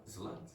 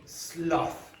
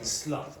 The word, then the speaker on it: sloth: Slut. Now, just be careful of your pronunciation there. Okay, so this word is pronounced sloth. Okay, sloth.